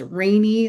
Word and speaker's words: Rainey: It's pronounced rainy like the weather.